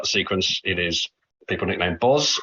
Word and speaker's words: Boz: it is people nicknamed boz although apparently it's booze to rhyme with moses uh bis bez and